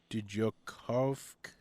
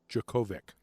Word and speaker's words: Djokovic: Novok Djokov. I don't know how you say that at all. I might have butchered it. Anyway, let me see it. He's Novak Djokovic.